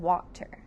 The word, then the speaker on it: water: Our next word is the word water. Say water. Water has two syllables. Water. Water sound. W being a W. A sounds like a short O, but it's actually an A.